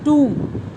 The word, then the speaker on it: tomb: लेकिन 1922 में, इतने सालों के बाद, एक ब्रिटिश आर्कियोलॉजिस्ट थे, उन्होंने उसकी जो टूम थी, TOMB will be pronounced as टूम, इसको डिस्कवर किया ये जानने के लिए कि भाई क्या रीज़न था, किंग टट की डेथ कैसे हुई.